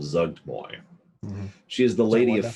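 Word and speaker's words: Zuggtmoy: demon lords and i looked up how to pronounce her name it's called zugtboy she is the lady of fungus and um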